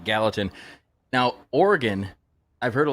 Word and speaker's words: Gallatin: You know, we got to pronounce it Gallatin.